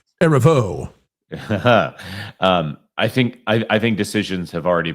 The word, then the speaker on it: Erivo: So when you have someone like Cynthia Erivo or Erivo or whatever that is at this point, I've decided to put the syllable on the last now since nobody else does it. It's Erivo.